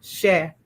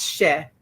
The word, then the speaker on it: cher: So the first word is CHER, cher, and it is just a term of endearment. It just means sweetie or dear heart or my darling one. It's cher. Some people say cher, rhymes with chair.